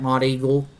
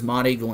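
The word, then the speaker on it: Monteagle: I24 and potentially down the road could impact Mod Eagle and the south side of Pelum.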